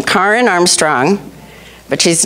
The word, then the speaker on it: Karen: k a r n karen but but it's pronounced Karen like the car in the garage Karen and um she